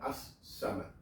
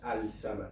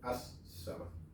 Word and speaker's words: As-Samad: Al-Samad sería, pero la L no se pronuncia al lado de la S, de la letra Sad, entonces queda As-Samad. No es Al-Samad, sino As-Samad.